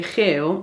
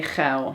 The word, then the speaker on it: geel: Well apparently lots of students have problems because when they want to say GEEL - which is yellow - they say GEIL (horny).